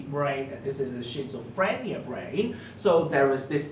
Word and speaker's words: schizophrenia: Schizophrenia. Okay, it's not prenia, it's phrenia.